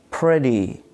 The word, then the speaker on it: pretty: For example, in the word pretty, pretty, here we have Y at the end of the word, but Y here is considered a vowel as it pronounces like E, pretty.